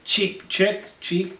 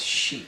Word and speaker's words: Chic: All right, number 6 is Le Freak by Cheek. What is it? It's chic. Chic.